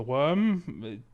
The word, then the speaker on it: wyrm: And it's because it's spelled WYRM. It's not like it's not like the freaking like not the worm out of Dune, but the fucking like a dragon ass.